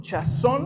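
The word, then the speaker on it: חזון: Chazón es en el hebreo original, así se pronuncia, y quiere decir o significa una visión mental, un sueño, una revelación que procede del oráculo sagrado.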